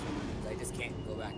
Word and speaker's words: lums: I always called them lums. Yeah, I always call them lums too, but after like even though like the manuals and all that say it's whatever it's pronounced looms, I just can't go back to that.